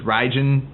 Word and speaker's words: Raijin: can always remember because ridin rhymes with riding we're on work on